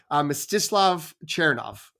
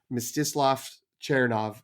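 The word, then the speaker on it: Mstyslav Chernov: there so uh that but that's misof chov is my understanding of how you should pronounce it based on likely AI generated Google uh YouTube videos of how to pronounce it but uh yeah I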